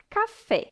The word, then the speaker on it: café: Por exemplo, café. A sílaba tônica é fé e é a última sílaba.